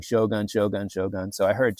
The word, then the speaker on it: shogun: and she said um I said it's Shogun and she's like oh shun. Yeah I know that one. And I was like so it is shogun. She's like yeah she said in Japanese it is exactly what I thought like they they pronounce it as shogun.